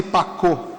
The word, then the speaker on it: Pacot: Simone Pacô, é Simone Pacote se escreve, eh, a evangelização das